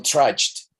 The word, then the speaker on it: trudged: Recuerden que esa DG en sonido, en calidad de sonido, es similar a la Y de yuca, de yoyo, de... Sí, es el mismo sonido.